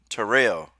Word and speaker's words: Tyrell: I got a pet peeve I Barney killaby Terrell it's here live there right yeah yeah that's